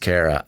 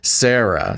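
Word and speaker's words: Cara: It's pronounced Kara. Ah, okay. Wow. You know, Kara's been producing for at least a few months here and there, and I think I've always insisted that it's pronounced Sarah.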